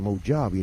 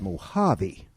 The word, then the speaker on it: Mojave: to tell you now you don't pronounce the J out here like a j we pronounce it like an H you see it's not the Moji it's Mojave there you go it's